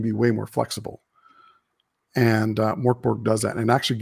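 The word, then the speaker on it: Mörk Borg: It's actually, I say Mork Borg, but it's pronounced like Mirk Bjorg or something like that.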